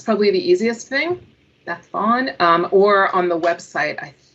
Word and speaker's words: Vaughan: It's Welsh. And the Kiwis said it better than I could. Beth Vaughan.